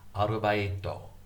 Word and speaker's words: arubaito: I learned how to say arbeiten through learning Japanese. Arbeiten is the German word meaning work. In Japanese, it's pronounced arubaito, arubaito, arubaito. So the Japanese take the words and make them their own. You really can't recognize the German in there. Arubaito, arbeiten, arubaito, arubaito. Now see, I've written that,